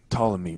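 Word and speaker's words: Ptolemy: I think to say pamy because I'm thinking about how it's spilled in my head but it's reallymy and the p is silent but anyway she goes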